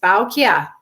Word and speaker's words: Baukje: And it's Baukia, right?